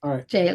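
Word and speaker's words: Gaol: Michael, it's Jail. We spelled it like that. It's Jail.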